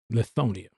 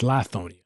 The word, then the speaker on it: Lithonia: What was life like growing up in Lithonia? Lithonia was cool. Oh, it's Lithonia. Lithonia. Let me get it right. Lithonia, however you want to pronounce it, however it rolls.